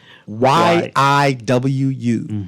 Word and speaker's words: Yiwu: Y-I-W-U. That's Yiwu. It's pronounced Yiwu, is how it's pronounced, but it's spelled Y-I-W-U.